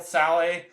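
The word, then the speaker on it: Šalé: kid from check uh sale Sally it's spelled sale but you know it's not pronounced that way because it's it's a Czech name um again he looked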